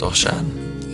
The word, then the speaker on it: Osian: Osian, or it should be pronounced Osian, is a Welsh name.